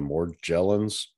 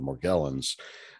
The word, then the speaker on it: Morgellons: the soft g the more gelens and the community the patients themselves typically utilize the hard g the morgellons there was a ra